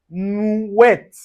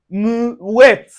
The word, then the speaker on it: mouette: So you can see anywhere you see the o u plus the i or you can see o u plus a vowel. So it gives us the oui.